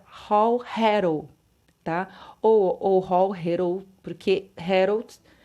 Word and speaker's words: Héroult: Ou Héroult, né? Héroult, para falar da pronúncia francesa.